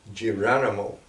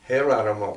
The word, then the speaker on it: Geronimo: photo this photo is who the Americans call giranimo but better pronounced hair animal because it's Spanish Geronimo is named after